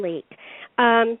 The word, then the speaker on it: Leick: i say it wrong like it's german but it should really be pronounced leak because i mean everybody